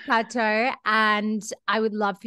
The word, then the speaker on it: Cato: for the first time, your name is Cato, which I just discovered because I was pronouncing it in the Aussie accent, like, hey, Cato. So, it is Cato.